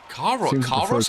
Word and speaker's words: Kairos: Kairos? How do you pronounce it again?